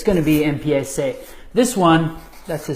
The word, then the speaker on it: empiece: Now, if we were just to, it's going to be empiece. This one, that's a C. This one makes a little less sense because a ZE should have that same se sound, but somehow, somewhere along